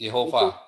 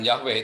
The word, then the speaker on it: Yehova: Ya, Jadi Bapak itu Yehova, bukan Yahweh, itu pembacanya salah. Yahweh yang benar adalah Yehova, karena di dalam Keluaran 6 ayat 4, itu Yehovanya di bawahnya itu ada tanda titik dua yang ke bawah itu tanda patah. Itu bacanya Y, bukan Ya.